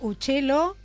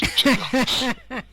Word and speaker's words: Uccello: Bueno, buenas tardes, Fabián Uccello. Bien, ¿estamos pronunciando bien tu apellido? Perfecto, pájaro en italiano es Uccello.